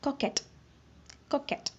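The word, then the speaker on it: coquette: இதோட ப்ரொனவுன்சியேஷன் வந்து கொஞ்சம் டிஃப்ரெண்ட்டாக இருக்கும். கொக்கெட். இது கியூ வந்து கே அப்படிங்கிற மாதிரி நம்ம ப்ரொனவுன்ஸ் பண்ணணும்.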